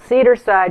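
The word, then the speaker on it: Cedarcide: bottle and it's called cedar side which is spelled cedar CED AR C IDE like insecticide cedar side biting insect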